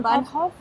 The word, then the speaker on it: Bahnhof: more time a little slower van ho van bahnhof means a station train station and started it's